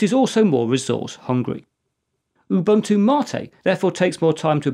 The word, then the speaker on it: MATE: A solid alternative to Rasbian is Ubuntu Mate. And yes, it's pronounced Mate and not Mate, as Mate is a Spanish word.